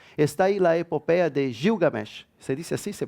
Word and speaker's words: Gilgamesh: tenemos algún ejemplo está ahí la epopeya de gilgamesh se dice así se pronuncia siendo en español esta historia que está